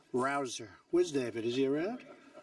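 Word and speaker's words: Rouzer: Rosa hey you know how you pronounce it rabble rouser you go David rouser where's David is he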